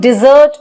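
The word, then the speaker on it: dessert: डेजर्ट मतलब रेगिस्तान, और हम जो खाने में स्वीट आइटम्स खाते हैं उसको हम डिजर्ट बोलते हैं। तो इसकी एक्चुअल प्रोनाउंसिएशन है डिजर्ट, डिजर्ट, डिजर्ट, डिजर्ट।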